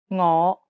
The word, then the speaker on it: 我: 夫怕耶 The fifth tone is a rising tone. 我 It starts low and then rises to the middle of your range.